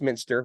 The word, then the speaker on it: Muenster: spelled m NS t r uh although it's pronounced Minster which I learned right before right before our